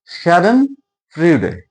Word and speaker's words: Schadenfreude: The pronunciation is Schadenfreude, and it is basically a German term.